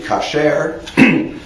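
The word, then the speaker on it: כשר: So it's usually pronounced with the accent on the first syllable. But in biblical Hebrew, the word would be kasher.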